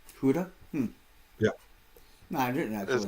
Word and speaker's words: Gouda: It's a, Did you know it's actually pronounced Huda? Huda?